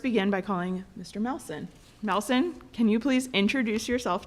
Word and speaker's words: Melson: Melson, can you please introduce yourself to the board, stating your name, spelling your name, and your address, please?